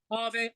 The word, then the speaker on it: Ave: Ave vowel. Yeah. Yeah. Ave, awesome.